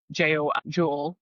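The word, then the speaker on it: jól: They had the Viking Festival, and it's spelled Jol. And it's pretty interesting that Jewel is pronounced, and it's now entered Yule.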